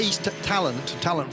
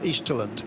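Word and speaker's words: Eastalent: I thought it was East talent from the East, but it's apparently pronounced Easterland. Okay. It's like indolent, almost.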